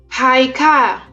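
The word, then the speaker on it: היכל: with the letter Hey, which is pronounced as H. Haikal.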